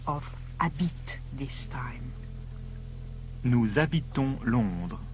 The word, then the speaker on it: habitons: Nous habitons Londres. Yes, on. O-N-S, but pronounced on.